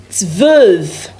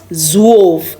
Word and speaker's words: zwölf: 12 in German is zwölf. Zwölf. So, we have Z V U, I mean O umlaut, okay? L F. Zwölf. Not zwolf.